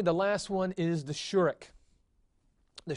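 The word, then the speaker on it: shureq: And it's going to be pronounced just like the kibbutz. So it's the U as in flute.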